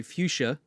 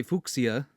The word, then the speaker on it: Fuchsia: In American English, I would say Fuchsia. Fuchsia. And in German, I'd probably say Fuchsia.